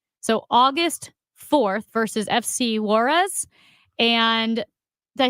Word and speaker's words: Juárez: So August 4th versus FC Juarez.